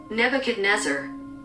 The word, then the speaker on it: Nebuchadnezzar: Neba Knezzar. Is that how I say it? How can I pronounce this child? Nebuchadnezzar.